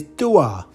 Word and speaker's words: dua: word for two is Dua that sounds a bit like Duo so that's easy to